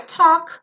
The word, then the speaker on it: talk: A gente não fala esse L, ele é completamente silencioso, é um L mudo, e o som aqui é de O, talk, tá?